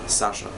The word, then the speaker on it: Sasha: letter for my name, Sasha. I don't know how you pronounce it in your country, but here is pretty much clear, Sasha.